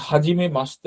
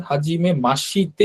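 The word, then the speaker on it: はじめまして: জিনিস তারপরে দেখেন এখানে হাজিমে মাসতে লেখা আছে এখানে একটা জিনিস খেয়াল করবেন হাজিমে মাসিতে হবে না হাজিমে মাসতে হবে হাজিমে মাসতে এইশির উচ্চারণটা অনেকটা স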